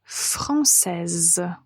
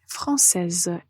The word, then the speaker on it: française: féminin on ajoute la lettre E et on prononce française donc vous voyez la lettre S et prononcée nous allons dire elle est française elle est française alors on fait une toute